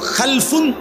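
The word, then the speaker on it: خَلْف: মাঝখানে একটা লাম আছে, এই লামটার মধ্যে যদি সাকিন হয় তাহলে হলো খালফুন, আর যদি লামের মধ্যে জবর হয় তাহলে হলো খালাফুন, আরবি শব্দ।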